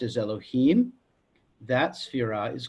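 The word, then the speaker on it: אלהים: letters you know hey Bobby but it is pronounced Elohim okay now remember if we're talking about a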